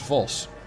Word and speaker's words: Vos: Serious question, how do you pronounce Vos?